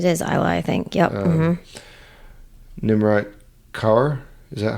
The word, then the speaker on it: Nimrat Kaur: Nimrat Kaur?